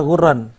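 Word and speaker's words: غُرًّا: Kata ghurran. Beliau jelaskan cara membacanya. Bidhammi al-mu'jamah wa tashdidir ra. Ghinnya di dhammah. Ra-nya ditasydid. Ghur.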